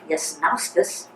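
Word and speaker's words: Jasnauskas: Well, Dad's original name was Yasnauskas, spelled with a J.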